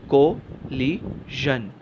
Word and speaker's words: collision: The pronunciation is कोलिजन, कोलिजन, कोलिजन।